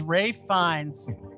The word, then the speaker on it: Ralph Fiennes: fiennes i don't know i've got an uncle he spells his name the same way his name's ralph my father-in-law's named ralph and it's spelt the same too but whatever you can call yourself whatever you want as long as you act as mesmerizing as ray finds i'm assuming that's a